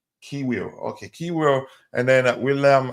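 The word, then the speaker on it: Kiwior: David Ry between the six, the two center backs, Ki Kio, is that how you pronounce his name? Kiwir.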